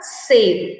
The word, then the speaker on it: cedo: A sílaba C tem o som de S, exatamente como nas sílabas sa de garça, sol de ouriço e su de suarana.